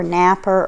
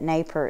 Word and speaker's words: Napier: the mark on it i don't know if it's pronounced naper or napper or napier i believe from just listening to other people on youtube that naper is the way to say it i've had been saying